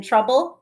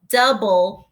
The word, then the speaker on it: trouble: treat chapter eight in trouble according to humphrey is called double trouble trouble rhymes with double believe me i was